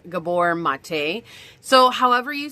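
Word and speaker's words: Gabor Maté: long ago, and I I say Gabber Mate, like that's how I say his name, but I guess I heard it was Gabbor Mate.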